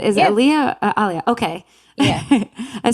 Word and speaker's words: Ahlia: pronouncing your name right? Is it Yeah. Ahlia?